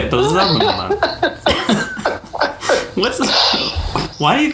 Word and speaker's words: Ba'alzamon: Ba'alzamon. Which I thought was actually... Wait, that's it. What are you saying? Are you fucking with me right now? Well, no, Tom, that's how you say it. Ba'alzamon.